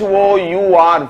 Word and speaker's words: hour: a consonant sound h o u r for that matter is a word starting with h but that h is silent so the word is pronounced as our so in h-o-u-r the